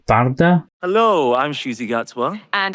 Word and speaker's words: Varada: name isn't pronounced as Varada, because we all kept saying Varada Sethu, but her first name, I think she pronounces it as Varda. Hello, I'm Ncuti Gatwa. And I'm Varda Sethu from the newest season of Doctor Who.